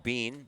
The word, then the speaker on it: Beane: afford here is Luke Beane batting 197 on the year with four runs batted in smells his last name beat I eh n pronounced bean oh yeah yeah why